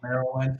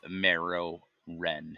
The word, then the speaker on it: Morrowind: marrow, Morrowind, It but yeah. is Morrowind, not Morrowind. No, Morrow. Marrow. I think you can pronounce it either way.